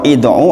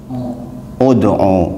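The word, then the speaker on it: ادعُ: Ud'u atau id'u atau ad'u? Ud'u, betul. Karena huruf ketiganya dhammah.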